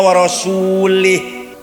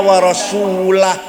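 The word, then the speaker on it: ورسوله: Yang benar bacanya innallaha bari'um minal musyrikina wa rasulah. Allah tidak melindungi orang musyrik dan Rasulullah pun tidak melindungi orang musyrik. Wa rasulah bacanya, jangan wa rasulih.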